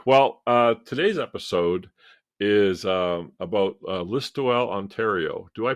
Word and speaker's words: Listowel: Okay, well, today's episode is about Listowel, Ontario. Do I pronounce that correctly, Denis? Yep. Yep. Listowel, Listowel.